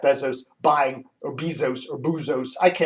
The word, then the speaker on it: Bezos: Jeff Bezos buying, or Bezos, or Boozos. They always say, Dave, you're mispronouncing it. It's Bezos, it's Bezos, it's Bezos, it's Bezos, it's Bezos, it's Boozos, whatever.